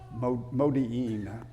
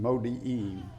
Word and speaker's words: Modi'in: But that's the way I think it's pronounced, Modi'in.